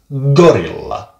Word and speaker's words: gorilla: It goes like gorilla.